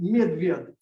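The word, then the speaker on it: медведь: So instead they say the honey eater, which is pronounced medved.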